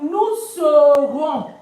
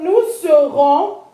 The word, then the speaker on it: nous serons: So it becomes nous serons. We will be. Of course, the s is not pronounced. Don't forget. So nous serons, we will be.